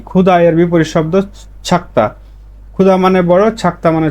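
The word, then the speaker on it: 작다: অনেকে মানে জ পড়ে বেশিরভাগ ঝ এর মত উচ্চারণ করে আমি ছ এর মত বলি কারণ হচ্ছে লিসেনিং আপনাদের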